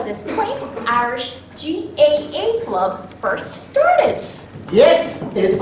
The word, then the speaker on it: GAA: Chuck, I think you pronounce it G-A-A, not gay.